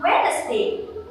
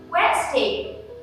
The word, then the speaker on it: Wednesday: this word another day of the week on wednesday which is totally wrong the right one is wednesday not wednesday but wasting so this is for today's pronunciation